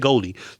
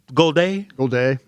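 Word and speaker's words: Golday: I feel good about Goldie, Brian. Yeah. Goliday. How you say it? Ain't Goldie. Goliday.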